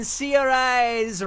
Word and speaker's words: Saoirse: Saoirse Ronan, Saoirse Ronan, Saors Ronan, or Seorais Ronan? I have no idea who he's talking about. Oh, I am So who switch up, got I it? didn't even know. When Seorais Ronan is smiling.